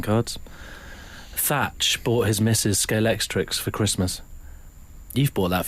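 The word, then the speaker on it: Scalextric: bit worried about the pronunciation of scalex is it scalex trick I think isn't it yeah and you made a common error a lot of people put X at the end it's like Cliff Richards isn't it I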